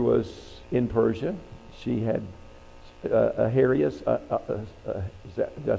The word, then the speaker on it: Ahasuerus: She had Ahasuerus. Did I say it right? Say it again. Ahasuerus, thank you.